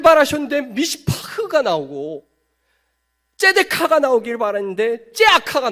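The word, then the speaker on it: מִשְׂפָּח: 근데 여기서 포악함은 굉장히 유사한 미시파흐입니다. 하나님은 미시파트를 바라셨는데 미시파흐가 맺혀집니다. 여기서 정의라는 단어는 째데카라고 말할 수 있는데, 째데카. 그런데 이 부르짖음은 째아카입니다. 째아카. 미시파트를 바라셨는데 미시파흐가 나오고, 째데카가 나오길 바랐는데 째아카가 나옵니다.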